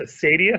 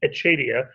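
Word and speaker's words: acedia: struggling from what's called, it's sometimes pronounced asadia, sometimes pronounced achadia, or sloth.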